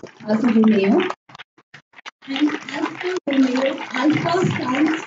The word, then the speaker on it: Alfa Romeo: Alfa Romeo.